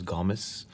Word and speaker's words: Gomes: is ben gomes well the correct pronunciation is gomez this is ben gamez but i i say gomez he knows a few